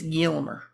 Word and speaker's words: Gilmer: out in gilmer texas you say it like this gilmer okay it's not it's not civilized it's gilmer so um i just